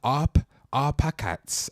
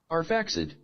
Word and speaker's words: Arphaxad: Was it Arpachats? I don't know how to say that right. Jesus. If Google don't know how to say this, I don't know how to say this. Let's see this. This word's mad. Is this one right here? Arphaxad. Jesus, I said it totally wrong.